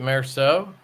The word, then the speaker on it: Meursault: Is it Merceau? Is that how you pronounce that? Is it MEURSAULT? URSAULT. Yeah, that's it. Yeah, it's Merceau. At least that's how I say it.